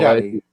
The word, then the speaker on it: Doughty: The kid with Doughty or Doty, I don't know how to say his name, down in Drew LA. Doughty.